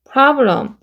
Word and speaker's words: problem: problem. 블루 발음이죠.